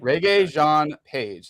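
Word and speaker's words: Regé-Jean Page: how you say his name is reggae reggae Reggae Jean page that's how you say his name he's he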